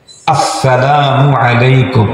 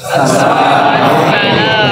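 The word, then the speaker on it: السلام عليكم: সালামের সময় শুরুর হামজাকে স্পষ্ট উচ্চারণ করেই সালাম দিতে হবে আসসালামু আলাইকুম বলেন আসসালামু আলাইকুম এই আস্থাটাকে সুন্দর করার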